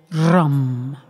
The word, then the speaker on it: Ram: The main seed syllable for the Manipura is RUM. So we try and roll the R if you can.